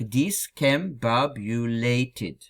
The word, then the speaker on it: discombobulated: Читается как discombobulated с ударением на «ба».